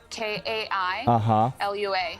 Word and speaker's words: Kailua: Kailua.